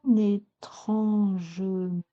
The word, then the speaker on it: étrangement: langage parler et courant, ne pas dire étrangement. Étrangement, vous n'auriez que trois pieds, trois syllabes. Étrangement, vous en avez quatre.